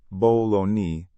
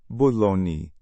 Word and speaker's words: bologna: It looks like it should be pronounced bologoney, but in reality, it's pronounced bologni.